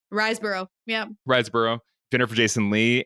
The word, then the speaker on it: Riseborough: Riseborough, yeah.